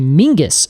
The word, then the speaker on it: Menzies: a z is because the actual sound of Scottish Menzies uh is actually it's just there's no letter for it in the English alphabet so it's actually Mingus apparently is how you would pronounce Menzies uh if you were pronouncing it kind of the traditional Scottish way that's amazing yeah so